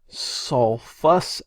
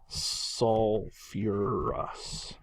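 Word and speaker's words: sulfurous: keep in mind that it's not sulfus acid it's going to we have to add that extra syllable in there so this is going to be suurus acid okay so acids of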